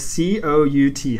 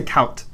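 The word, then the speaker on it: cout: So on that, when in C++, when I write C-O-U-T, how do you say that? C-out. Okay, that's how I say it as well. But some people say count. Those people, I know people who say count.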